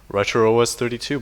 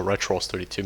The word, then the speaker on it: RetrOS 32: I start pronouncing it as RetrOS 32, but then I switched to RetrOS 32 midway through the video.